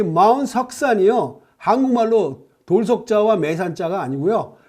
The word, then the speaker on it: Shuksan: 재미있는 것은 이 마운트 석산이요, 한국말로 돌석자와 매산자가 아니고요, 영문으로 석산입니다. 영문 스펠링 말하면 SHUKSAN, 석산 이릅니다. 그러니까 공교롭게도 우리 느낌의 석산 그러면 돌산이라는 기분이 있는데요.